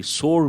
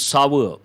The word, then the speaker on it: sour: as for you are people mispronounce that people say sore it is not correct it is sour the milk has become